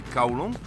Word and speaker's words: Kowloon: going to head to golong and uh build them or kowloon i i call it because i'm cantonese and i that's how i pronounce it anyways we're back in